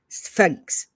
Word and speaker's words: sphinx: which i can't say sphinx sphinx and it's supposed to be one syllable like suffix so i kind of